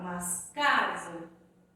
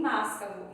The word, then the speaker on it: mascavo: Ou eu falo mascavô. Não falo mascavô e nem máscavo. Então eu falo açúcar mascavo. Pode perceber que o K é a sílaba mais forte desta palavra, tá certo?